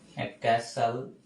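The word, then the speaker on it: castle: কারণ লাইফটা আসলেই ব্যাড অফ রোজেস না লাইফটা আসলে কঠিন আরেকটা আমরা পড়ে ফেলি ক্যাসাল ইনডি সবগুলো খুবই কমন পরীক্ষার জন্য খুবই ইম্পর্টেন্ট এটার উচ্চারণ হবে ক্যাস যদিওটি এখানে আছে টিটা উজ্য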